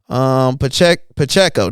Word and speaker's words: Pacheco: Pacheco.